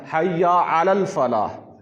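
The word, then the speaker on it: حي على الفلاح: مشکل لفظ نہیں ہے۔ حی علی فلاح، ان دونوں کو ہم نے ملانا ہے، حی علی الفلاح، تو یہ لفظ صحیح ہو جائے گا، تلفظ صحیح ہو جائے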